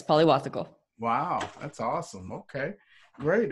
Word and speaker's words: Pillavathukal: your last name so my last name is pronounced Polly waffle Polymathic oh yes yeah my dad is originally from India okay okay so yeah right Polly waffle yes pali wasa chol wow that's awesome okay